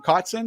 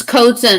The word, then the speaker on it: Kotzin: have Pittsburgh Hills Ellen cotson is that how you say her name it's coaching it's like coats in the closet that's how you'll never